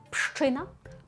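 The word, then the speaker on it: Pszczyna: Так, ми маємо п на початку, а далі маємо аж4 приголосних ш, ч, так, зцз ина. Буде простіше, але оце от на початку пш воно для нас виглядає прям дуже складно. Але пам'ятаємо пщина, тому що ш читаємо як щ. Ми вже сьогодні навіть про це говорили. І просто уявіть, що там одна буква щ.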